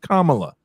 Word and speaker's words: Kamala: no reason about Kamala her name is pronounced Kamala I will pronounce it